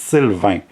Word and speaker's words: Sylvain: It's Sylvain. If you don't get it, you cannot say it. It's fine. It's a sound that you don't have in English.